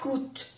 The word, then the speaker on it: coûte: Combien ça coûte? Combien ça coûte? Coûte. No decimos la E. Coûte.